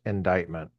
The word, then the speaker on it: indictment: Men took feminism as a straightforward indictment, and I know it's indictment, okay, I know, but why spell it like that if that's how you're supposed to say it, of their own attitudes.